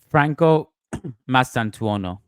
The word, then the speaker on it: Franco Mastantuono: Maybe a loan at Real Sociedad won't be too bad, Franco Mastantuono. There you go. And far from me being the best at pronouncing names, but I'm pretty sure that's it.